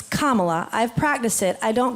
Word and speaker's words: Kamala: intentionally disrespectful from here on how do you pronounce the vice president first it's Kamala but I would love to hear you say